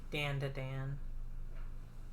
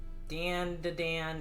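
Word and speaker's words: Dandadan: guy fighting ghosts and danda dan is about girl boy concealing school i see i see ah let's snack on some chips again it's pronounced done done gotcha hmm oh mobster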